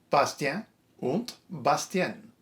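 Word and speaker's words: Bastien und Bastienne: Bastien und Bastien. This one's fun because it's in German, but it's based on a French story and the characters are named in French.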